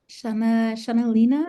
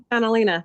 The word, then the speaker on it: Annalena: Shanalina, is that how I pronounce it, or did I pronounce it wrong? It's Annalena.